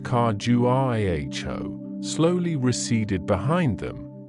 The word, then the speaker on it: Khajuraho: The grandeur of Khajuraho, pronounced Khajuraho, slowly receded behind them,